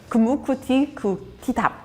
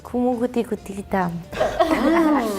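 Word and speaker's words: kumukutikutitap: kumukuti kutitam. P at the end, so it's. Kumukuti kutitap. And what does this mean then?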